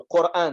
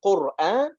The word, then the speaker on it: Qur'an: Et si c'est le cas, est-ce que ça se prononce avec le Hamza, Qur'an, ou sans Hamza, Quran? Comme le défend l'imam Shafi'i, il y a une version aussi de lecture du Coran, on l'appelle Quran.